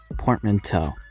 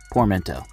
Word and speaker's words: portmanteau: struggle to pronounce but just think of it as how Americans say Plateau you can just go portmanteau or how I say it poor Mento either way a poor